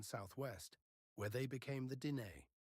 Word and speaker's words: Diné: where they became the Diné, which is simply the Navajo pronunciation of the same word.